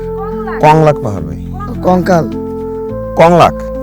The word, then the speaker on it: কংলাক: খায় না স্বাগতম কি পাহাড় ভাই কলঙ্ক পাহাড় কংলাক পাহাড় ভাই কঙ্কাল কংলাক আবার উচ্চারণ করেন কঙ্কাল পাহাড় কংলাক পাহাড় কলঙ্ক